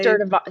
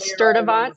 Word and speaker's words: Sturdevant: Yes, and And they Sturdevant Sturdevant, is that how you say it? Mhm, yeah.